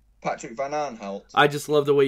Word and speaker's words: Van Aanholt: Patrick Van Aanholt. I just love the way you say it. Patrick Van Aanholt.